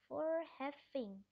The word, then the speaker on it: voorheffing: Voorheffing. Voorheffing. Bahasa Belanda seperti bahasa Inggris double O dibacanya U. Voorheffing.